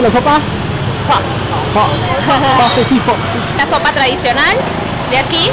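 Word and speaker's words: phở: ¿Cómo se pronuncia la sopa? Pho.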